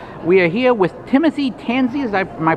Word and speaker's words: Tansey: We are here with Timothy Tansey, am I pronouncing that right?